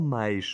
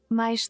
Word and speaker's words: mais: Is it mais or mais? O sol está a brilhar. Está calor hoje. Mais tarde, quero dar... Mais. Okay, it's mais. It's really mais.